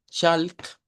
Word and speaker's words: chalk: prestar mucha atención, porque cuando usted dice walk o dice chalk, en primer lugar está usando la A y en segundo lugar está pronunciando la L, que no debe de sonar. En estas palabras el patrón de sonido es casi el mismo. Es decir, esta suena como O corta, esa no suena y al final suena la K.